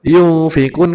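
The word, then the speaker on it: يُنفِقُونَ: alasannya kan belum tahu makanya dibaca yung fikun karena ini nun mati bertemu fa disebut atau dinamakan bacaan ikhfa dalam ilmu tajwid cara bacanya memang yang semula n atau nun sukun diganti dengan ng berdengungah alasane niku ikhfa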